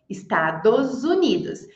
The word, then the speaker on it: Estados Unidos: Estados Unidos. Se eu fosse falar só estados, seria com som de S. Agora, Estados Unidos ficou um som de Z ali.